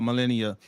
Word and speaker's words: Melania: Go ahead, get your piece of it, Melania Trump. Hey, get it. Hey, and you know what? One of the articles that came out about Melania.